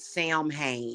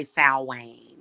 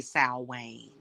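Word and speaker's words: Samhain: Sam hay and yes you can pronounce it Sam Hae you don't have to say s Wayne yeah just FYI you can say sam Hayne if you want some people pronounce it that way sometimes I do say s Wayne gosh so yeah I'm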